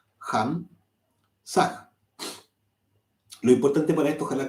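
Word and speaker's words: Ham Sah: a H ham sag la H se pronuncia como una J ham saag Lo importante para esto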